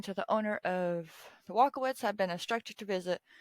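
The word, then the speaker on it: Walkowicz: I'm going to try to pronounce it. Walkowitz. W-A-L-K, walk. O-W-I-C-Z. We're going to... Yeah, we're just going to pronounce it that way.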